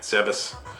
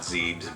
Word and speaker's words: Zebes: stronghold on the planet Zebes. I always used to call it Zebes, but I know it's really supposed to be pronounced Zebes.